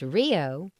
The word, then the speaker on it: RHIO: regional health information organization RHIO pronounced Rio is a multi-stakeholder organization